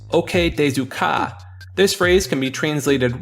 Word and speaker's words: OK desu ka: Thought by many players to be pronounced Bokista, this sound is actually the phrase OK Desu Ka.